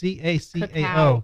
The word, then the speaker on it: cacao: What is the kaku? It's CACAO. Cacao.